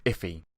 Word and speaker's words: IIFE: for immediately invoked function expression and it's actually pronounced iffy and to understand why you might use it